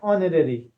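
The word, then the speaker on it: honorary: एच तो क्या होता है? कंसोनेंट होता है। बट यहां पर हमारा क्या है? एच हमारा साइलेंट रहता है। तो साइलेंट अगर रहेगा तो साउंड हमारा क्या हो गया? साउंड हमारा अ का आ रहा है यानी ओ से स्टार्ट हो रहा है ऑनरेरी।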